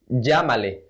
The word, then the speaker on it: llámale: Let's say, llámale, call him or call her, llámale. We don't say llámale, llámale. That sounds very weird and no one uses it like that. So we would rather say llámale, call him, llámale. Always with this pronunciation, with the J pronunciation, llámale.